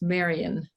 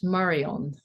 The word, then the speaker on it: Marion: Here the word itself would be pronounced Marion. And where I come from, it is Marion. So Marion is a different stress on the different syllable, and as well as, it being more of a French pronunciation, which is the French version of Mary.